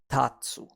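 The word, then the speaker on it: たつ: from the hot coffee now it's pronounced as Tatsu and you can remember it like this let's stand up and dance Tatsu to stand or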